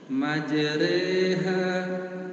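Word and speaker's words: مجراها: ya seperti bilang kasrah majreha maj Jadi jangan terlalu tertutup majha majha nah ini namanya taklil bukan imalah kalau imalah itu betul-betul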